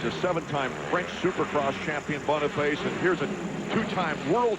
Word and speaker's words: Boniface: And that's how he pronounces it, by the way. Even though it's French, it's Boniface. He says Boniface.